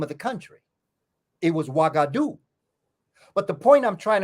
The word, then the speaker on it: Ouagadougou: And nobody know how to pronounce it because it's spelled O-U-G-A instead of W-A. The sound is hua, hua, and that comes from Meduneta with the sound of hu, which is like it's